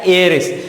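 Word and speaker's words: heiress: यहाँ एच से स्टार्ट हो रहा है, जैसे ऑनेस्ट एच से स्टार्ट होता था वैसे ये भी एच से स्टार्ट हो रहा, पर इसका जो हम उच्चारण करते हैं, जिसका इसका जो प्रोनाउंसिएशन है वो कैसा है, एयरिस।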